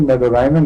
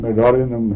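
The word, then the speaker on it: Medorrhinum: नहीं, मेरे ख्याल में मेडोराइनम नहीं है, मेडोरिनम है, ये मेडोरिनम।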